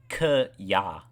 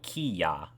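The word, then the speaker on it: きゃ: Yeah, it's a single syllable. You don't go like k ya, or you don't go ki ya. You go kya. Like it's not like two separate like ki ya.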